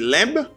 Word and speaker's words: lamb: Pas oublier b a pas prononcé dans mot ça. On va dire lamb ou dit lamb.